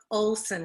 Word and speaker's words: Ohlson: have with us a very special lady olivia olson am i correct saying your last name correctly